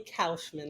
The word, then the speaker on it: Kaufman: It is actually Kaufman, like sauerkraut.